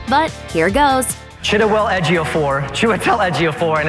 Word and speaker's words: Chiwetel Ejiofor: Chidawell Ejiofor, Chiwetel Ejiofor, and it's Chiwetel Ejiofor.